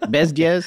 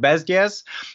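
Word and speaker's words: Bezděz: Bezdes? It's a very soft D, but it's not so Bezdes.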